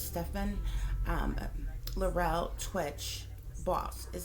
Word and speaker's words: Stephen: real quick overview uh I believe it's Stefan okay because this first name is spelled s-t-e-p-h-e-n so I believe it's Stefan um Laurel twitch boss